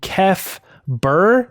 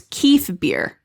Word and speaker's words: Kef Bir: to be heading to Kef Bir. Do you guys want to say Bir? It's beer. Beer. Beer is how Matt Martin said. Kef. It's actually, he said it was Kef Bir, I think.